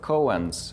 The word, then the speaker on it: koan: For example, working with koans in the Zen tradition, that's the Vipassana practice. Sorry? Koans. Colons? Koans. It's spelled as K-O-A-N. Koans.